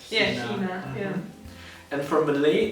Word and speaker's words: China: And for Malay, it's kind of like the same thing, just instead of chai, because that's an English pronunciation, we say chi, so it's China. China. Negara China.